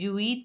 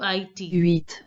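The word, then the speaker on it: huit: silent in French generally generally the letter H is silent in French so you have to pronounce only uit so the pronunciation will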